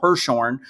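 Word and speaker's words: Hirschhorn: uh dr joel hirsch he's mispronounced his name it is dr joel hershorn he's going to be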